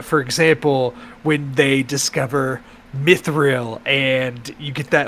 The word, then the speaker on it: mithril: out and being struck by lightning thus crystallizing mithril throughout the mountain yeah yeah that was sick